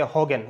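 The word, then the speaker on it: Huygens: was given by heisen or you can say hogan okay you can say hogan hogan okay so i used to pronounce it heisen okay hydens wave theory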